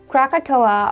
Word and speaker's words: Krakatoa: Krakatoa, or the locals say Krakatau, had an eruption far in 1883.